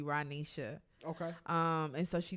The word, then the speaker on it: Rohnesha: not gonna make it anybody that has grown up with me will say my name is ranisha and the reason is because my mother meant for my name to be ranisha okay um and so